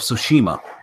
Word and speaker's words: Tsushima: with the T, and you don't pronounce the T at all.